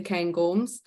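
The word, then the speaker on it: Cairngorms: that we're within the cane gorms um so you can see here that also is probably the most English pronunciation of the cane gorms but I am English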